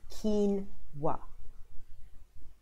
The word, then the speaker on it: quinoa: how many people have got different variations of pronouncing the word it is called quinoa polish is up with a cold so